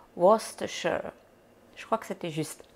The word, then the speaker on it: Worcestershire: Il y a plein de monde qui prononce ça Worcester sauce, machin, on ne sait jamais trop comment, mais c'est Worcestershire.